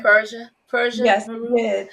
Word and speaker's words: Persha: Did I say it right, Persha?